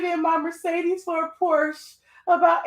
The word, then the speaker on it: Porsche: I'm driving a 10-year-old Porsche, like the white people supposed to say. That's how it's pronounced for real. Porsche. So if you're going to the Porsche dealership, you have to put the A on the end. Porsche. It's really an E with the little thing on it, but you know what I'm saying.